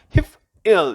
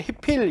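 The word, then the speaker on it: הִפְעִיל: 그 다음에 힙일. 힙, 쉐바, 묵음 쉐바죠. 힙일. 이렇게 발음해야 되는데, I를 묵음화시켜서 그냥 힙필 이런 식으로.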